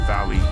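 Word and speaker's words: Váli: another Survivor of Ragnarok if you're wondering about pronunciation use the English word Valley and you're most of the way there bragi is the learned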